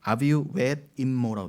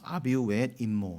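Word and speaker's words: אָבִיו וְאִמּוֹ: 자, 부모는 아비우 웻 임모라고 되어 있어요. 제가 일부러 읽어드린 이유는 우리는 엄마 아버지를 뭐라고 하죠? 아버지 엄마 그리고 뭐 아비라고 그러고 엄이라고 그러잖아요. 발음이 묘하게 비슷해요. 신기해요.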